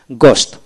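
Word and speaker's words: ghost: এখন আসেন এইচ উচ্চারণ হয় না এরকম, জি এইচ ও এস টি গোস্ট, অর্থাৎ জি ও এস টি গোস্ট।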